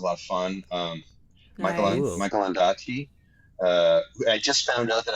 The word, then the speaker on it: Ondaatje: Michael Ondaatje. I just found out that I've been saying his name wrong my entire life. Oh, no. It's not Ondaatje, it's Ondaatje. Right from the man himself.